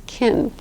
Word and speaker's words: can: cannot do it if they say I can do it I can do it I can do it that means that they can do it because they're pronouncing that as kin okay so listen for